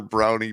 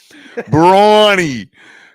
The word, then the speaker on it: Brawny: It was like, what are brownie paper towels? Brawny.